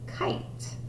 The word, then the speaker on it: kite: And remember, that's a long I because the silent E is telling the I, it's saying you say it's your name, I, and I'll be nice and quiet back here.